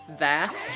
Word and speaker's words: Vass: Peroni here just throwing out the very divisive Vass rhymes with pass.